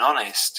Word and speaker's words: honest: before a vowel so with silent h we would say an honest and with pronounced h